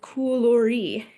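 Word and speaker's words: κουλούρι: It's pronounced koulori.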